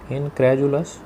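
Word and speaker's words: incredulous: इनक्रेजुलस इसका उच्चारण देख लेंगे. इनक्रेजू, DU का यहाँ पर उच्चारण है ज.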